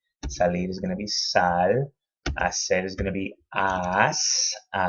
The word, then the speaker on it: hacer: Hacer with that soft C sound.